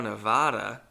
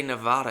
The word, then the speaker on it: Nevada: Sriracha instead of Reno, Nevada, which also I've since learned you're not supposed to say Nevada, it's Nevada.